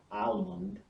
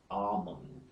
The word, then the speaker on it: almond: The next one is AL in ALM, as in balm, calm, psalm, almond. So it's never almond, it's almond. The next one is A, as in facade, drama, and father.